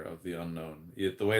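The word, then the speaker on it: Unown: I'm seeing the Pokemon Unknown.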